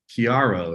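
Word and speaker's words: Kiaro: Eleanor Lynch is the COO of Chiaro. Is that pronounced correctly?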